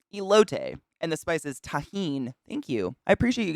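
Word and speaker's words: Tajín: lote thank you elote and the spice is tahin thank you i appreciate you guys being nice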